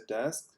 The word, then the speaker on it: deque: stack and queue so they are pronounced as desk which is a sort of double ended queue they are a replacement